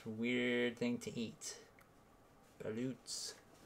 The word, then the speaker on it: balut: Balut's. Or is it balot? I think it's balot with an O, isn't it? I might be wrong. At least that's how my wife pronounces it.